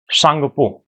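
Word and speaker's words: Tsangpo: सांगपो जैसे सुनामी की स्पेलिंग होती है ना टी एस यू एन ए एम आई तो ऐसे ही सांगपो की स्पेलिंग क्या होगी? टी एस ए एन जी पी O Tibet में इसे सांगपो कहा जाता है।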